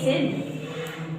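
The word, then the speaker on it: ascend: हमेशा साइलेंट होता है जब एस से पहले आपका सी आ जाएगा तो क्या हो जाएगा सी आपका साइलेंट हो जाएगा ओके सी साइलेंट में जैसे ए सेन ए एस सी ई एन डी तो सी आपका तो साइलेंट हो गया है ना सी का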